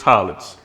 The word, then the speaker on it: Hollins: Hollins. I said your last name, right? You said it right, bro. Hollins.